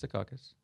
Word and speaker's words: Secaucus: that's how you pronounce it. Okay. Yeah, it's Secaucus.